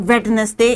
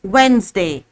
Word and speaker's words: Wednesday: The teachers, some people pronounce Wednesday as Wednesday. It is not Wednesday, it's Wednesday.